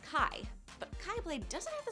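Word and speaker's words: Χ: While characters in the series refer to it as the Keyblade because it sounds like Keyblade, in actuality, the Greek X is pronounced Kai, but Keyblade doesn't have the same ring to it.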